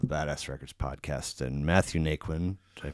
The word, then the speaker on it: Naquin: And Matthew Nikquin, did I pronounce it right?